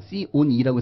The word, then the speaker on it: C/E: 보통 C slash E면 C on E라고 해서 분수 코드 또는 on 코드라고 하는데 앞에 있는 C는 코드가 맞아요.